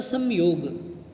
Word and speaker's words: संयोग: इसका वैसे शुद्ध उच्चारण होता है संयोग।